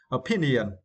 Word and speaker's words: opinion: And for this words, we need to stress the second syllable P, opinion.